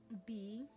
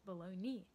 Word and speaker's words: bologna: but no, it's pronounced below knee, because somehow G and A makes knee. The G is just out of there, and the A makes an E sound.